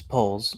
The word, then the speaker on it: Poles: was the scapegoat for how do you pronounce that Poes or poles it's poles Ryan Ryan poles Ryan